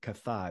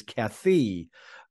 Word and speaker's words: Kaithi: reviewed Kathy Kathy we pronounced it wrong we're pronouncing kathai that's what I thought it was I was corrected it is Kathy and I like that movie a lot so